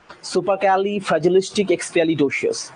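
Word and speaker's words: supercalifragilisticexpialidocious: এটা fast সেকেন্ডটা super Kelly super Kelly ফ্র্যাজিলিস্টিক super Kelly fragilistic এক্সপিয়ালি ডোসিয়াস সুপারক্যালি ফ্র্যাজিলিস্টিক এক্সপেয়ালি ডোসিয়াস super Kelly ফ্র্যাজিলিস্টিক এক্সপিয়ালি ডোসিয়াস একভাবে উচ্চারণ করলে ঠিক আছে বোঝা গেল বিষয়টা ওকে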